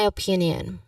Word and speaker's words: opinion: So here in my opinion, not totally but like in my opinion, stress on in the word opinion, stress on the second syllable or the middle sound here. Pin.